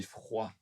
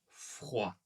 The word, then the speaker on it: froid: du ski, j'ai j'ai froid. J'ai froid. Ouais, super. Donc les quatre sont très utilisés. Attention aux dernières lettres qu'on ne prononce pas.